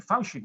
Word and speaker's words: Fauci: Bueno, el ya legendario doctor Anthony Fauci, como lo pronuncian en inglés, el doctor Anthony Fauci,